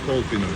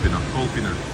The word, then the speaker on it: Kolpino: This is colder guys just like in the title. Not colder. Calpino. It's hard to pronounce in Russian.